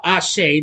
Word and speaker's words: Athie: very good as a matter of fact Mamadou ashay that's how you say it who more recently